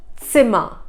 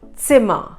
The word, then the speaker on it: Zimmer: Another letter is Z, which is called Z in German, has a TS pronunciation. How would say the name Vatsala? So the S is the Z pronunciation. So we can take an example of the number 10. In German, that's 10. 10. Another word, Zimmer. Zimmer. It means a room.